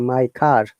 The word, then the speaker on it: car: front of the house now we have to pronounce r because after r there is a vowel sound which is i is